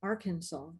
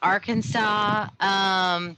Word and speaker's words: Arkansas: The next up is Suzanne Peterson from Arkansas. Hello, everybody. So interesting facts about Arkansas. It is illegal to mispronounce Arkansas inside the state, so no Arkansas when you're here, people.